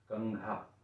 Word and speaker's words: कंघा: कंघा ये क्या होगा? आधा ण होगा और ये घं ना नहीं होगा।